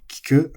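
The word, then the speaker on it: 聞く: Now, kiku for ask or listen is flat. Kiku.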